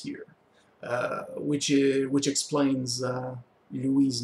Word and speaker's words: Louis: Although in English you tend to pronounce it Louis, it's really Louis, since of course he's French.